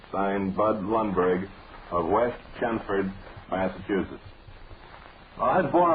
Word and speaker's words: Chelmsford: And the only person I have ever heard pronounce L in that name was Winston Churchill, and he was referring to Chelmsford, England. But if they pronounce it Chelmsford up there, then we'll pronounce the L's. But honestly, when I say that, I've never heard anybody pronounce the L's in Chelmsford.